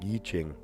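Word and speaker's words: I Ching: Yichching. Oh, okay. I was pronouncing it wrong. Yichching.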